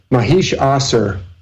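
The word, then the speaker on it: Mahishasura: fights this monster called mahesh Asura Mahesh they usually don't pronounce in Hindi they don't pronounce that last a most of the time so you'll hear it and as Mahesh ah sir so Mahesh ah sir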